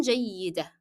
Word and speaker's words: جيدة: However, جيدة is also ending in tanween and also ending in t مربوطة, but I will drop the pronunciation of both because I'm stopping here.